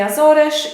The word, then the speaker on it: Azores: english to be honest i think it might be azores probably something like that in polish we say azore in portuguese we say azores in english i'm not